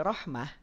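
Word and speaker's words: رحمة: atau dua-duanya tebal contoh kalau kita tidak hati-hati ketika mengucapkan lafad Rahmah maka saat masuk huruf Ha ini bisa saja pangkal lidah kita dinaikkan Ar bikum Rah Rahmah Rahmah Rahmah Kenapa Kang dinaikkan karena kita fokus pada huru nya saja dua-duanya jadi kepengaruhin tebal dua-duanya Jadi huruf tebal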